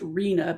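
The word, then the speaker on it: RHNA: It's pronounced arena and people will say when we have arena allocation that means that the assigned units for each jur jurisdiction.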